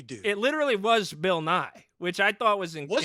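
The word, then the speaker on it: Nighy: with a little bit of an emphasis on the E at the end. Nye.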